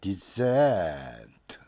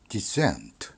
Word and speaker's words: descent: 그러면 두 번째 음절인 SE를 0에서부터 100까지 끌어올립니다. Descent 이런 식이죠. Descent 액센트의 의미는 이렇게 액센트가